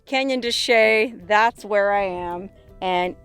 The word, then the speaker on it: Chelly: place called Canyon de Chelly it's spelled like Canyon de Chelly so you've probably